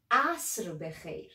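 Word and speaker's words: عصر: good afternoon good evening asr you may find it like a little bit difficult pronouncing a re sound here because it's different from english enforcement we say asura as well done let's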